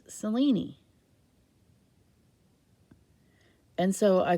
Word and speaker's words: Selene: And in Greek, it's pronounced Selene.